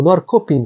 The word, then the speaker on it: Norrköping: Alguns dicionários recomendam o aprofundamento desse nome para Norrköpinga, mas eu acho meio estranho, melhor falar Norrköping, Norrköping.